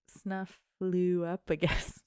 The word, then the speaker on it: Snuffleupagus: But it's weird because it has a FLEU in the middle. Like flu. Snuffleupagus.